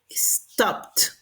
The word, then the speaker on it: stopped: Por ejemplo, stop termina en P. Los que terminan en P, la pronunciación ED va a ser en T. Entonces diríamos stopped, stopped.